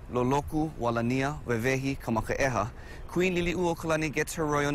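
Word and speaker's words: Liliʻuokalani: For the longest time, I said her name wrong, and I would say Liliuokalani, but yeah, it's Liliuokalani.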